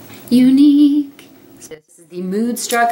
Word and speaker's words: Younique: It's Younique, spelled with a Y. And Younique.